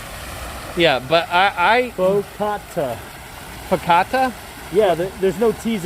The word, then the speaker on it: focaccia: No, not focaccia. It's faux. Is Donna trying to tell us what it's called? Focaccia. Focaccia. There's no R in the Italian pronunciation on this, and there's no R I think in the I was word.